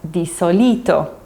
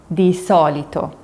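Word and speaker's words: di solito: A lot of learners pronounce the solito which means usually as doito but it's actually dissolito dito.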